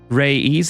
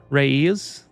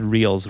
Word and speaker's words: Reyes: Reyes, it's pronounced Reyes. What did I say? I said reels, right? That's what Google told me.